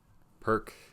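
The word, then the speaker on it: Pirc: I think it's pronunciation. Perk, another pronunciation. I think Peart's is the kind of more correct. I think German or Slavic, some Slavic language.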